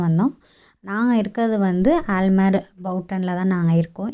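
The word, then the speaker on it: Buiten: நாங்கள் இருக்கிறது வந்து ஆல்மேர் பவுட்டனில் தான் நாங்கள் இருக்கோம். இங்கே ப்ரொனவுன்ஸ் அப்படி தான், பியூட்டன் கிடையாது, பவுட்டன் தான் இங்கே ப்ரொனவுன்ஸு.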